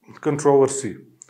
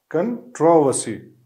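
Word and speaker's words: controversy: दूसरा वर्ड है कंट्रोवर्सी। इसकी भी जो है वो दो प्रोनाउंसिएशन है। अमेरिकन इंग्लिश जो है इसको कुछ दूसरी तरह प्रोनाउंस करता है, ब्रिटिश दूसरी तरीके से।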